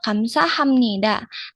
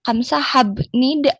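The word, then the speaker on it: 감사합니다: Nah di sini ini kan huruf bib yaun huruf b tapi dibacanya kamsa hamnida. Nah, itu akan kita bahas nih. Kenapa si B ini berubah menjadi M? Padahal kan harusnya kamsa habnid ya kalau membaca dari hurufnya.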